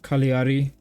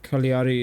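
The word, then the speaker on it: Cagliari: up from either uh kaliari somebody said the g is silent I did not realize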